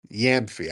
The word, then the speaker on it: Gyamfi: It's spelled Gyamfi. Is it Gyamfi or Gamfi or Yamfi? His name is Norman Yamfi. I just say Yamfi.